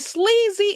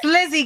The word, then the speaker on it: Slizzy: Is it Sleazy Entertainment? Sleaze Giving. They released a project. I think their collective is Cash Cobain, is Vontae the singer. Yes, Sleazy. Sleazy. Okay, Gang. I'm pronouncing my bad. Slizzy Gang. I'm sorry, Slizzy Gang.